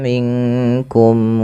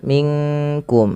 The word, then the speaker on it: منكم: Kemudian melafal minkum. Nah, ini yang sering terjadi, bukan minkum tapi dia samarkan ke huruf kaf.